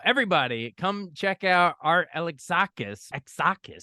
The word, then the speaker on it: Alexakis: come check out art alexakis exus said it right of Ever Clear like Alex saw the band KISS Alex siss there you go Alex